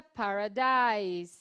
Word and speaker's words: paradise: tá vendo aqui, então, paradise se escreve, então, ortograficamente, o final ISE, Mas a pronúncia paradise, nós falamos assim.